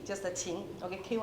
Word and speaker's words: qin: So this is called the Can we try to pronounce it? Yeah. Yeah throughout history the instrument called the chin just the chin okay kin n gu in Chinese means ancient.